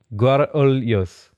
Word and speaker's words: Guarulhos: Oh, so there's like different, like there'll be different regional areas. Yeah, accents. Yeah. There's people saying you're from Rio de Janeiro, so they're saying you're going to say it wrong. That's exactly it. So you would say Guarulhos, kind of?